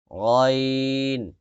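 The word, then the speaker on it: غ: করবেন আইন আইন আইন এরপরে গাইন গাইন আমরা পড়ি গন গন না গন না বাংলার গরুর গর মত ওরকম শুদ্ধ বাংলা উচ্চারণ না এটা হচ্ছে আরবি উচ্চারণ এটা একটু ব্যতিক্রম হবে একটু মোটা করেন দেখেন অনেকের কাছে মনে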